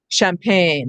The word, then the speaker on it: champagne: ch can say and then it says in the french influence words like machine and uh mustache and um champagne chandelier and i you